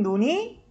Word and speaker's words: 눈: 거 같애 그치 예 하늘에서 내리는 눈이 시작해볼까 활에서 내린 논이 예 길어요 그래서 사람 눈이 짧습니다 셔츠 해서 세팅을 좀